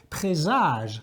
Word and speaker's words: présage: Présage with one S in French is Z, présage, normally with an accent on the E.